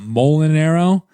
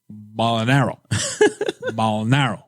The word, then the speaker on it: Mulinaro: ] it up anyways usually it's pronounced uh mole and arrow and he was like bolinaro it doesn't sound like